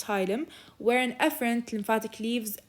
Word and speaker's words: hilum: and a concave depression the hilum absorptilum it's pronounced hylum where an efferent lymphatic leaves and where an